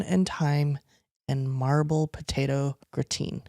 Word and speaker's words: gratin: Then fourth course was prime cheekstone New York with tarragon and thyme and marble potato gratin.